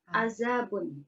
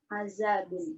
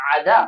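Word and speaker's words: عزب: Hati-hati ya, jangan sampai salah bacanya adab.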